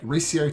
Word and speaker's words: Ricio: Is it Ricio? Yep, Ricio Tane. Yep, that's correct.